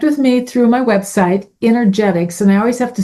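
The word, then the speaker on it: Innergetics: to spell that because they hear Energetics but they still think E. It's Energetics i n n e r g e t i c s. It's energy from within.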